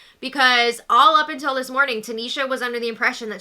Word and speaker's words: Tanisha: She called out Jess, saying my name is Tanisha. Not Tiana.